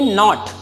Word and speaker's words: knot: अब देखिए नॉट, इसको नॉट नहीं बोलेंगे, इसको बोलेंगे नॉट। क्या बोलेंगे? नॉट। जैसे कि नहीं वाला नॉट है ना, सेम उसी की तरह साउंड करेगा, NOT जैसा ही साउंड करेगा, लेकिन इसका स्पेलिंग क्या है? KNOT।